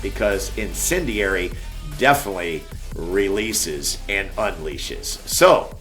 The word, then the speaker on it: Incendiary: At the time, I don't think I did a good job of pronouncing the name of the band, but it is Incendiary, which, by the way, there is a definition for this, where I had it here somewhere.